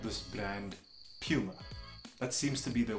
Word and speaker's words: Puma: across the world but the most common and the one that is most reliable is Puma not Puma so you decide how you're gonna skin this cat but at the end of the day I'm holding on tight to Puma just one thing I